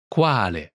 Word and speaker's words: Quale: Pronunciation note, Qual? is the shortened form of Quale?